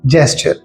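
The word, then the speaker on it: gesture: इसी तरह एक वर्ड है जेस्चर, जिसे लोग गेस्चर कह रहे होते हैं, तो आपने गेस्चर नहीं कहना, सही वर्ड है जेस्चर।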